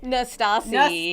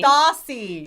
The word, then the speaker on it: Nastasi: You're the only one that I let mispronounce my last name. Say it correctly. Nastasi. Nastasi.